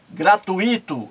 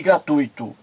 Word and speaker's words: gratuito: O jornalista estava assistindo ao programa e ele ouviu a jornalista errar, pronunciar várias vezes fluido em vez de fluido, gratuito em vez de gratuito e gratuita em vez de gratuita.